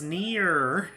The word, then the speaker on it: Nia: When I said that's near, I was joking because Rex in Xenoblade Chronicles 2 sometimes pronounces her name more like Near instead of like Nia, so that's...